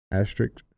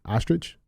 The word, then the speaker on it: asterisk: Asterisk? Yeah, asterisk. Ostrich?